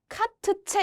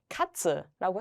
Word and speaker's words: Katze: TZ가 만나도 그냥 츠 소리를 냅니다. 이게 트츠 이렇게 읽지 않는다는 거예요. 얘를 카트체 이렇게 읽지 않는다는 거죠. 한 번에 읽어주시는데요. 츠로 해주시는 거예요. 그래서 고양이란 뜻인데 카츠라고 해주시면 됩니다.